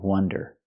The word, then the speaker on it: wonder: amazing it's a wonder pronunciation use the short uh sound W Wonder like up and cup ww wonder I wonder